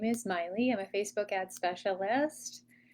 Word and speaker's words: Maile: Um, Again, my name is Miley. That's how you pronounce that.